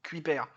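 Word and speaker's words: Kuiper: astronogi dit CER et 12 parse dit cuiper et moi j'ai tendance à dire cuipè parce que mon père en fait prononcait comme ça donc j'ai grandi avec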